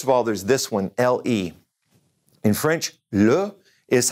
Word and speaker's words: le: First of all, there's this one, L-E.